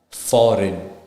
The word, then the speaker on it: foreign: let's look into G the letter G is not pronounced when it comes before n in a word for example design foreign so here you see the G is not pronounced it's silent same thing with foreign f o r e i g n so it's f o r e i g is not pronounced it's just n so it's foreign and the same goes with design G GH so now